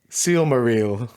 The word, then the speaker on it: Silmaril: pronouncing somewhere else wrong I think it's I read like on on the art of Encyclopedia it's Selma real are you kidding me